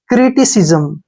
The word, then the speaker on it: criticism: को सी पढ़ेंगे ऐसे, और यहाँ पर एस का उच्चारण जय करेंगे, ठीक है, जय, क्योंकि आई से पहले जब भी आई के बाद जब भी एस आता है तो एस को जय पढ़ते हैं, और एम को मैं।